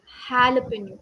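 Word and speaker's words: jalapeño: j a l a the j a is pronounced as Halo halapin okay Hal so in most of the English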